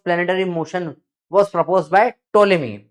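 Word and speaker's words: Ptolemy: Motion was proposed by टोलेमी piece silent है। पी is just like pseudopodia का P. Pseudopodia में P silent होता है।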